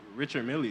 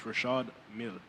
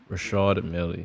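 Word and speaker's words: Richard Mille: Like, Boy, first of all, Richard Millie isn't pronounced. It's Rashad Millie. Rashad Millie. Yeah, that's how you say it.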